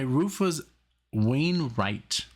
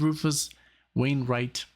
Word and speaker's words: Rufus Wainwright: I mean, of course I could, but in Germany, you pronounce it as a, like, V. That's a V, like Wiener, Wein. And here's like a Wayne.